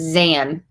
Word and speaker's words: Zan: Pronounce like the second syllable of Suzanne. Zan. Okay, so it's Zan.